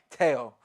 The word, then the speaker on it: Teo: say his name right everybody says Tio but exactly tail uh thoughts on tail